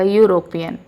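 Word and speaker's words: European: लेकिन जब इसका उच्चारण यानी प्रोनाउंसिएशन करेंगे तो यू आएगा। यूरोपियन।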